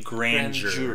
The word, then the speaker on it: grandeur: grandeur is that a you pronounce that word I do I say grand your grandeur that's how I said so everyone was